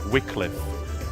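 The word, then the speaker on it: Wycliffe: You'll find plenty of things that are written WY that are pronounced W like Wickliffe and stuff like that.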